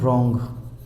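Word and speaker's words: wrong: ठीक है, ऐसे होता है रॉन्ग, है ना, रॉन्ग आंसर। तो इसमें क्या होता है, डब्लू साइलेंट है, तो इसको क्या पढ़ते हैं हम, रॉन्ग पढ़ते हैं।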